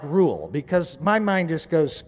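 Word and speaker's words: Reuel: I like the original Hebrew which is ruel rule is commonly pronounced because Jethro I think of the guy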